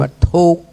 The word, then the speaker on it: ทุกข์: ทุกข์ ทุกข์ ทอด ทหาร สระ อุ ก ไก ข ไข ไม่ กลั่น อ่าน ว่า ทุกข์ ฮู้ จัก บ่